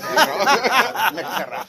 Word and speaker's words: Mercado: That's right, you gotta roll your R's. Mercado.